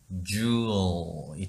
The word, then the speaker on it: visual: 근데 이거는 V니까 또 진동이 필요하겠죠. 발음기호를 볼게요. V-I-G. 그쵸? G 있죠? G. 그 다음에 U, 이 거꾸로 L. 그러면 어떻게 읽을까요? 그쵸? visual이 되는 거예요.